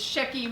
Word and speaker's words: Shecky: want to get the names okay so it's shecky magazine we had a magazine online that was